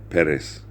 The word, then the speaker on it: Perez: man named Chris Perez Perez is more the way we say it. It almost sounds like it's Pettis, but it's cuz you have the accent on the E or so.